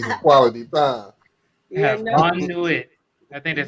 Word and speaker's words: bonne nuit: yeah, no, Bon Nuit. I think that's how you bon, pronounce it, right? bonne nuit.